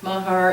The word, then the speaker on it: Mahar: his name is doesn't isn't pronounced like it's spelled but Mahar as our planner I'll say I'll second that motion can we get this date change to 2013.